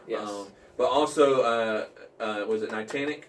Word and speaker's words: Niantic: But also, was it Niantic? Niantic, is that how you say it?